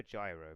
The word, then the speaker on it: Gyro: So, I'm going to go for Gyro because obviously he's named as in the word gyate, which is pronounced with a J sound, but I think in my head I've been saying Gyro quite a bit.